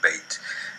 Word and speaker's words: beth: Beit has two pronunciations in Hebrew, depending on whether or not it has the dagesh. With the dagesh, it is pronounced like the letter B in boy. Without the dagesh, it sounds like V in voyage.